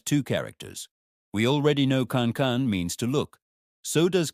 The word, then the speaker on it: 看: Question number six is about the character Khan, pronounced Khan.